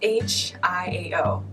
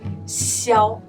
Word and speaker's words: Xiao: It's Xiao. Xiao. So a lot of American guys will pronounce it Shiao, but that's very close, I would say.